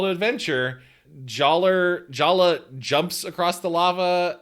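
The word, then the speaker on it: Jaller: culture just nonsense uh Jer jayer uh in IMDb it's spelled j a l l j a l l e r but everybody calls him Jala which yeah J me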